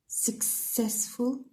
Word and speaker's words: successful: دونك هنا عندنا success راهو successful س راهو on the second syllable.